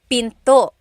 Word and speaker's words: pinto: And remember, don't forget the glottle stop. Don't forget to stop the sound at the end. That's called a glottle stop. Pinto. Pinto. It's not pinto. It's pinto. Stop it at the end.